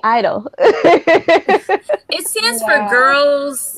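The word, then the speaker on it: (G)I-DLE: Yeah, she like writes and Wait, okay, the G is silent? Yeah. Yeah, you didn't know that? No, that's so dumb. What? That's so. Yeah, it's Silent G Idol.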